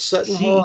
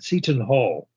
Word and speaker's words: Seton Hall: I think it's Sutton Hall, I'm not sure. But it's a Catholic school, as you said, Catholic University. Well, yes, it's pronounced, it's spelled Ceton, Seton Hall.